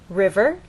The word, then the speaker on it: river: River, you'll either hear people speak or you'll look in a dictionary and understand that the first syllable is stressed, river.